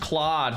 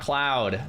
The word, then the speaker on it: Claude: It's pronounced Claude, not cloud.